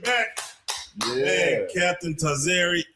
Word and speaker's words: Tazaryach: Man, Captain Tazaryach. Tazaryach. Yeah. For those who mispronounce it, like what I don't get punishment?